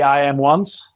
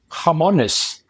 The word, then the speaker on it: IAMONES: it becomes stickier so sometimes they say I am once which is the typical reading point from an English standpoint or otherwise the Spanish say harmonous like the pruto or the hand so it's just the name that you can pronounce it actually the way you want as long as